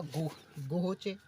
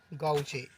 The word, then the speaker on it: gauche: इसे कोई तो कहेगा गोहोचे, कोई कहेगा गाउचे। तो इसका सही अर्थ होगा गाउचे।